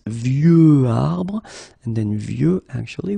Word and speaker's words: vieux: Okay, of course you've got this X at the end, but you don't pronounce it. Okay, so it's vieux arbre, and then vieux actually will have a second masculine form, and it's vieille.